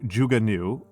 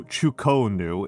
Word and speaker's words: Zhuge Nu: So Zhuge Liang, he is also the origin point of the phrase of the word Zhuge Nu. Also, Chuko Nu is another way of pronouncing it.